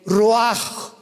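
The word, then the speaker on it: ruach: Y exhaló Isaac el roach. Apúntalo como suena. R u a c h. El roaj, que la palabra hebrea para espíritu.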